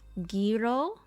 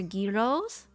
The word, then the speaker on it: gyro: correctly the right word the right way to say it is Giro I like their Gyros I'm not gonna say gyro anymore I used to say gyro but I've learned not to say it like that now I've had Gyros